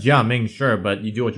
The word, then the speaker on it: Gaming: Literally spelled gaming. I mean, you pronounce it as Jia Ming, sure, but you do what you want, right?